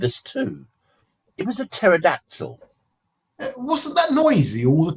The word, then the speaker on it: pterodactyl: It was a pterodactyl. Wasn't that noisy all the time? No, you could never actually hear him, even when he was using the bathroom. Why not? Because the P is silent.